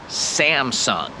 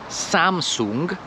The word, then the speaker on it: Samsung: nie mają jedzenia i tą firmę się wymawia po angielsku Simson Simson wiem że po polsku ta firma jest Samsung ale może ktoś by